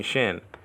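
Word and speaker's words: שין: It's not a sin to call sheen shin.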